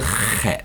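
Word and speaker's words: ח: ha, this is a chet. Yudbet. Not sure if you're able to pronounce that or not, if you haven't learned or spoken Hebrew before. It's a ch sound, like Chanukah.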